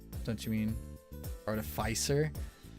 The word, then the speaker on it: Artificer: Artificer. Don't you mean Artificer? I say Artificer because it's artifact. You know? They're a mancer of artifacts. So Artificer. It doesn't really matter which way you pronounce it, but anyway, Barbarians are big beefy boys.